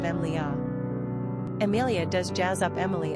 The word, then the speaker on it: Emilia: it's our understanding that the Italians pronounce Amelia with three syllables but English speakers often use a four-syllable rendition of Emilia Amelia does Jazz up